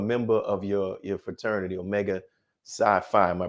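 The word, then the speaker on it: Omega Psi Phi: how you're a member of your your fraternity omega sci-fi am i pronouncing it right yes sir so what made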